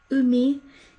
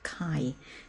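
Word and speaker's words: 海: or the ocean and it's pronounced Umi if it's on its own or if it's part of word it gets pronounced Kai and one of the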